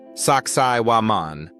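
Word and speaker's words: Sacsayhuamán: Its name is Sakaian, pronounced Saksai Waman, and it was built by the Inca civilization, or maybe even those who came before them.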